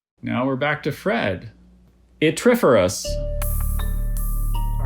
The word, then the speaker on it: yttriferous: Yttriferous.